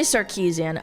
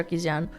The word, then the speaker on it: Sarkeesian: I I say it like in the I'll say Sarkeesian, but you're supposed to say Sarkeesian.